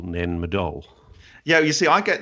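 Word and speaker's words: Nan Madol: for a minute and ask how you spell nanmadol yeah you see I get this wrong because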